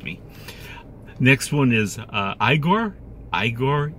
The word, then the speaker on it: Igor: Igor, Igor. No, you need soft R sound at end.